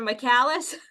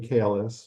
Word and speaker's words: Michelis: you pronounce your name michelis or mallis everybody in my family pronounce it differently but I like to go with michelis but any any fun